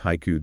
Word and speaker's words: haiku: In English, we pronounce it as two syllables. Haiku. We stress the first syllable. But in Japanese, it is composed of three distinct onji haiku, 3 equal beats of time.